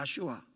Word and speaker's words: 야슈아: 예수라는 이름의 히브리식 발음은 야슈아입니다. 한번 따라 하시겠습니다. 야슈아.